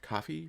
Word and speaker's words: Ko-fi: go over to my Kofi, Kofi, however you wish to pronounce it. Apparently, it's supposed to be pronounced coffee, but uh I like